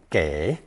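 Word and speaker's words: 给: a person three today's second character is commonly pronounced gay and more rarely G G both meaning to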